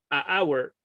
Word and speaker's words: hour: qué no decimos a hour? Y cosas por el estilo, ha pasado. Entonces, es lo que dice Antonio, ¿cierto? Because the H is silent in some situations.